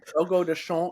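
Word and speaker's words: Fogo de Chão: Fogo de Chao is how I'm told it's pronounced in Portuguese.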